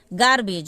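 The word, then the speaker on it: garbage: हो गया गेम का मतलब होता है खेल गार्बेज गार्बेज में भी जी तक का ही उच्चारण होगा ज और ई को हम कोई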